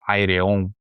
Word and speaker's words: Ayreon: É o cara dono do Ayreon, né, se vocês quiserem a pronúncia correta.